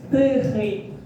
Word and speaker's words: тихий: Тихий.